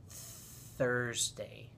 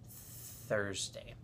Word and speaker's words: Thursday: there's seven days and one of the hardest days to say is Thursday because it has the th sound at the beginning of the word Thursday Thursday well guys I hope